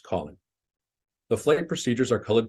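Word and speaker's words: COLYN: letters for example the c-o-l-y-n Waypoint would be pronounced Colin the flight procedures are colored purple for departures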